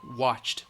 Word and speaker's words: watched: waited and watched cha-cha-cha it's voice list so the e D is going to sound like a T watched we waited and watched